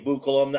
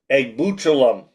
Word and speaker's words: Egbuchulam: Is it Chisholm Egbuchulam? Egbuchulam. Okay. Egbuchulam. That's how you say now it.